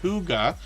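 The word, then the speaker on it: hygge: we even get into the channel the word Huga which is how we pronounce this h y g g if you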